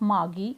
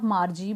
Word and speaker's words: Margie: Jones, mother of Margie or Margie, both the pronunciations are acceptable, that it was not the fault of Margie that she was performing bad in geography sector.